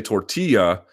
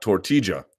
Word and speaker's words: tortilla: Passionate about the double L's in Spanish, but I say tortilla, not tortilla. That's fine. I don't have an issue with that. I'm not telling you that's wrong. It's not wrong.